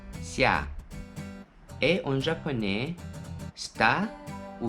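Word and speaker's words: 下: La prononciation en mandarin c'est xia, xia.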